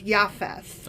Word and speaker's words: Japheth: okay okay so noah sons again were shem ham and jfess and actually i've been pronouncing japheth wrong because the j is a y so it's yafes ah okay um that